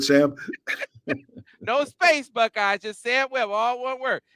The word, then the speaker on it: Sam Webb: It's Sam Webb. Now, you spell it just like it sounds, Buckeyes. Okay. Not Scam Web. Not Just, Sam Web. yeah, just sound it.